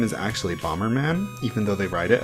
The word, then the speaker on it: Bomb Man: man's name is actually Bomberman even though they write it as bomb man it's like pronounced as Bomberman in Japanese which i think is